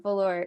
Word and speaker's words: Velours: The stage name is pronounced Velours. Silent S on the end. Velours. It's French.